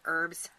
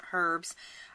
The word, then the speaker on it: herbs: the world it's pronounced herbs um either is correct depending on where you grew up and so again um